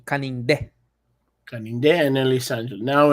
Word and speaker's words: Canindé: Canindé. Kaninde.